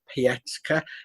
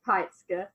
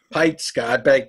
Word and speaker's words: Peitzker: So I'd like to welcome Tania Peitzker. Is that reasonably close to the right pronunciation, Tania? Not quite, Peitzker. Peitzker, I beg your pardon.